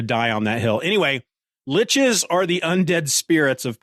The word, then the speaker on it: lich: a servant of seven liches and yeah I'm saying Lich I know that there's a heated debate out there on how to pronounce that word l-i-c-h and I'm not trying